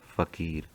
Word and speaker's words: फ़कीर: अब फ़कीर में नुक्ता कहाँ लगेगा? ये लगेगा फ के नीचे, तभी बनेगा फ़कीर, वरना फ हो जाता हो। ठीक है, फ और फ देखिए इनका उच्चारण बदल गया ना।